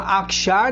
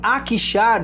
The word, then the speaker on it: Akhisar: Como eu disse, atualmente ela chama Akşar, né, que fica na Turquia. O nome Akşar significa Castelo Branco, né? É um nome assim que se escreve com AKHISAR, né?